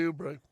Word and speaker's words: Oubre: Kelly Oubre.